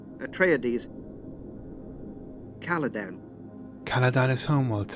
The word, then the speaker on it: Atreides: a common way of pronouncing this word is a tradies but Frank Herbert pronounces it Atreides Atreides Atreides Caledon Canada is home world's House Atreides the